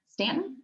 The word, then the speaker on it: Staunton: that is from Staunton Stan it's spelled Staunton but sense a sense - yeah we got